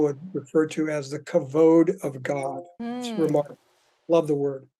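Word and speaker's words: כבוד: understand pursuing God's presence first of all it's pronounced covered already this is a really common uh sort of interpretation of the word kavoda it's actually kavod I love the Hebrew word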